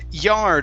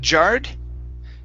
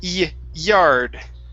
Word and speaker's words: yard: the end patches okay this word here is pronounced yard instead of jarred okay it's yard yo okay very good now let's go to